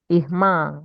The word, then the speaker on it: irmã: Okay, so how do you say sister in Portuguese? Ikma. Irmã, okay, irmã.